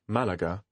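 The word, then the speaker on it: Málaga: arrived is Malaga Malaga quite clearly the stress here is on the first syllable if you look at the word Malaga you'll notice that there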